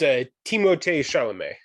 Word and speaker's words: Timothée Chalamet: it turns out I was saying his first name wrong as well. It's Timothée Chalamet.